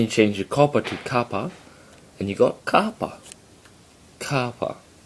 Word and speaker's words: kappa: the y cell now the next letter is kappa kappa if you think of cops and copper even though there is